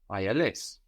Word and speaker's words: ils: an S to il, ILS. How does that sound? Il. Yep, it sounds the same. We don't pronounce that last S, but we write it, but it sounds the same, il.